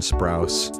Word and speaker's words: Sprouse: apology to : dylan sprouse a I mispronounced their last name you kidding their name is Sprouse and B couldn't remember